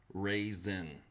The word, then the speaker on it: Ruixin: here so this is pronounced supposedly like raisin so Rui apparently makes the sound like Rey and then Xin is